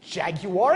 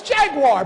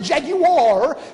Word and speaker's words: Jaguar: If you think about Lexus or Jaguar, it's not Jaguar, it's Jaguar, but they pronounce it Jaguar because that's a luxury brand, right?